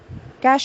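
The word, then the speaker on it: cache: it has become part of the computer language cash actually means CH c a c h e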